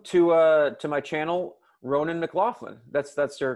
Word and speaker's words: Ronan McLaughlin: right so welcome to uh to my channel ronan mclaughlin that's that's your correct pronunciation right uh yes as uh as close